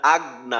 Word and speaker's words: أغنى: আচ্ছা আরেকবার বলি, মা আগনা, ما أغنى আচ্ছা আমরা এই মুহূর্তে যেটা বিশেষভাবে খেয়াল করব, যেন গইনের উচ্চারণটা কলকলার মতো না হয়।